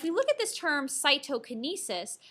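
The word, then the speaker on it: cytokinesis: look at this term cyto Kinesis cyto sounds like the word cytoplasm so cyto canis is basically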